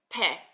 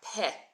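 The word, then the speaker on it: פה: escape so we're going P so the hey is not silent we're pronouncing the hey but you barely hear it so it's practically silent smania thanks for sharing on Twitter so we've got P right guys and P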